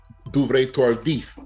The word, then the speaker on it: Duvernay-Tardif: It's a French-Canadian name, Laurent Duvernay-Tardif. I think that's how you pronounce it. Duvernay-Tardif.